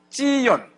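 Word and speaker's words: צִיּוֹן: 오늘 이 아버지가 준 이름은 찌연. 찌연. 이게 시온의 이제 히브리 발음인데 네.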